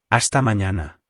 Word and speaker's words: hasta mañana: Hasta mañana. Again, we have a silent H and the N has a virgulilla over it, which adds a Y sound after the N.